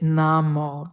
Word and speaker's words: namo: It is namo that and the o sound at the end is always that long o sound.